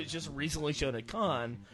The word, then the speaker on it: Cannes: but the feedback that's coming back from this movie was just recently shown at Cannes or Cannes, however you pronounce. Cons. Can seems wrong, but I keep getting corrected.